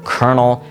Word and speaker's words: colonel: And years later, we now end up in English with the word kernel spelled C-O-L-O-N-E-L. Kernel. Let's talk about silent letters for a little bit more.